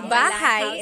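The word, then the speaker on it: bahay: I always make a mistake with bahigh and buhai. So bahigh is househ.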